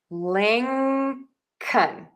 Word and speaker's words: Lincoln: short U and a instead of saying an O? Because syllable number two is unstressed and in unstressed syllable we are going to reduce the vowel and make it shorter and more relaxed and quicker and lower in pitch. So that O becomes an a.